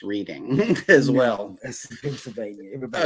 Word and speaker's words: Reading: also proved that reading it it should be pronounced reading as well that's Pennsylvania everybody okay 1707 German